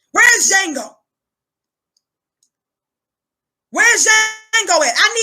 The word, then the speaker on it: Django: building where's Django not to jingle to D is silent res Django Wednesday and go it I need Django Jamie